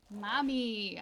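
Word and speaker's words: Mamei: is the fil engine Mommy I think that's how you say it m a m EI I mommy mommy mom e i mommy ey mommy ey this is why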